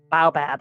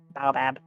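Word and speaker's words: baobab: it it is a very thick boy trunk bowab apparently that's how it's pronounced bowab all right and if you doubt that if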